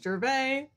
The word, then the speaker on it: Gervais: Gervaises, Gervais. See, this is why we couldn't do that show. Yeah, right. If he was French, it would be without the last letter, but it's actually pronounced Gervais.